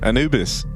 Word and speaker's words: Anubis: Obviously, the one time they didn't was here to open up Anubis. Or Anubis, as it's officially pronounced.